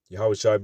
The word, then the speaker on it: Yahawashi: Yahawashi being the true Hebrew way to pronounce that name.